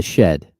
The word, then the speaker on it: Shead: gotta cut all this sheade is pronounced like shed yeah yeah oh okay Jamal shed that's definitely I did